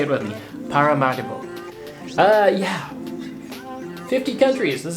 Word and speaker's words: Paramaribo: is how I learned the city is actually pronounced I've been calling it Paramaribo in my head the whole time because that's what it looks like written down but no say it with me pararo uh yeah 50 countries this is country number